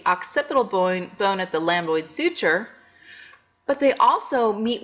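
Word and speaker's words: lambdoid: called the lamboid suture let's pronounce that lamboid lamboid suture say lamboid suture it's like a lamb that's doid it's a lamboid suture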